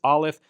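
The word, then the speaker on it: aleph: So, the first letter is alf. Olive, we said, is a silent letter in the modern Israeli pronunciation. In ancient times, it would have been a glottle stop, but we are not going to pronounce it.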